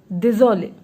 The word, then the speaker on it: désolé: But the pronunciation will remain same.